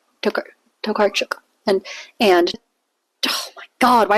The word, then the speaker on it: Tokarczuk: And Drive Your Plow Over the Bones of the Dead by Olga Tokarczuk. Fuck. Tokarczuk. Tokakruk. Stay tuned and find out whether this year Jimmy can pronounce things correctly.